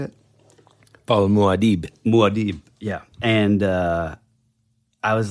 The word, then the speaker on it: Muad'Dib: Paul Muad'Dib, yeah.